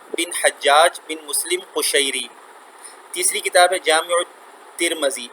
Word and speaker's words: ترمذی: کتاب ہے جامع ترمذی، اس کو ترمیزی پڑھتے ہیں، ترمیزی یہ لفظ تلفظ ٹھیک نہیں ہے، اس کو پڑھتے ہیں ترمذی، میم پر زبر پڑھیں، ٹھیک ہے۔ 2-3 تلفظ اس کے ہیں، ان میں سے ایک صحیح تلفظ ترمذی بھی ہے، تو آپ ترمذی بھی پڑھ سکتے ہیں اس کو، لیکن ترمیزی نہیں پڑھ سکتے، آپ میم کے نیچے